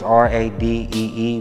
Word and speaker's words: Radee: It's spelled different, it's R-A-D-E-E, but it's pronounced RADEE.